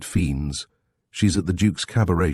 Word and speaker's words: Fiennes: Gilly Blossom, you know her, of course, and Chick Fiennes, she pronounced it Fiends.